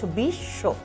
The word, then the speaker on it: বিশ্ব: কিন্তু যখনই এই বফলাটা শেষে চলে যাবে বা মাঝখানে চলে যাবে তখন কিন্তু তুমি বফলার একটা উচ্চারণ পাচ্ছ বিশ্ব, এখানেও কিন্তু দ্বিত্ব চলে আসছে।